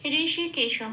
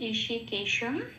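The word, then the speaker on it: হৃষীকেশম্: আচ্ছা, তারপরে লাইনে আসি, ঋষিকেশম, অনুস্ব আছে শেষে, অনুস্ব থাকলে এটা কি হবে? ময় হসন্ত হিসেবে উচ্চারিত হয় সেই জন্য ঋষিকেশম।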